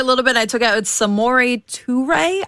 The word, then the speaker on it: Samori Toure: I took out Samori Toure, I believe, is how you pronounce it based off of my research.